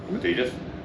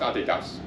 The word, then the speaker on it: Adidas: Adidas. Do you say Adidas? Yeah. I just wanted to make sure. It's pronounced Adidas.